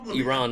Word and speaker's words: Iran: president I'm glad people are saying it right Iran not Iran I'm you know